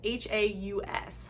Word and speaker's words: Haus: And so I believe it's pronounced Haus of Elevation. It's Haus, Haus of Elevation.